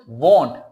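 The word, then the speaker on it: won't: सकते हैं आई वॉन्ट, वांट नहीं वॉन्ट, इसकी प्रोनाउंसिएशन है वॉन्ट, वॉन्टों को गोल करना है, वॉन्ट।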